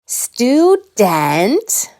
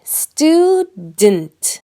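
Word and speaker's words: student: Here it is, because most Americans don’t say “stu-DENT”, we say “stud’nt, almost like the vowel is gone. The U makes a strong vowel sound, oo, but the syllable “d’nt” has that almost invisible sound, the schwa.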